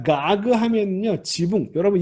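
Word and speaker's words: גג: 가그.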